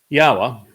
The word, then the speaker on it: Yahowah: Yahowah, which is the proper pronunciation of Yod He Wah He, he is our Elohah. The O sound from Elohah, God, is provided by the Wah, and it is concluded by the Ah sound in Yahowah's name.